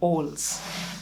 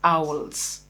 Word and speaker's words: owls: our mother tongue we grew up calling them alls but ideally that word is supposed to be pronounced as owls and you can see on your screen the